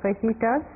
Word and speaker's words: fajita: ஸோ நம்ம ready to make அவர் ஃபெஜிட்டாஸ். அவங்க தமாஷா இருக்கும் மெக்சிகனில் ஜே ஹாவா ஸ்பெல் ப்ரொனவுன்ஸ் பண்ணுவாங்க. ஸோ புதுசாக போகிறவங்க ஃபஜிட்டா ஃபஜிட்டா சொல்லுவாங்க. இட்ஸ் நாட் ஃபஜிட்டா, இட்ஸ் ஃபஜிட்டா ஹா.